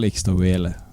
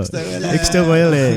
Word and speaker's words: Ixtahuele: It's all Ixtahuele.